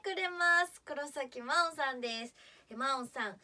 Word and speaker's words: 真音: が来てくれます黒崎真音さんですまおんさん神の音と書いてまおんさんです絶対に聞いてねー